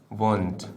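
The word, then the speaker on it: won't: जाते हैं वो तो विल नॉट को हम लोग विलेट नहीं कहते बल्कि कहते हैं वंट क्या कहेंगे बच्चों वंट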